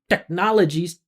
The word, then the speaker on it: technologies: It's a secondary stress which means it needs to have some presence of a vowel sound. Not as much presence as nologies, but it needs to have the forward movement and feeling of the vowel.